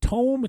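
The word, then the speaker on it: Toem: from the game Tome I'm not sure you pronounce it Tome t-o-e-m Oh I thought it was yeah it could be toe because toe within an M um a place in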